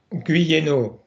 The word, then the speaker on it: Guyénot: tell us how to correctly us uh Yanks how to correctly pronounce your name, please. Guo.